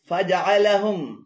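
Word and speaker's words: فجعلهم: এখানে ফাজা এবং আলাহুম উভয়টি ভুল উচ্চারণ। শুদ্ধ উচ্চারণ হবে ফাজআলাহুম, ফাজআলাহুম।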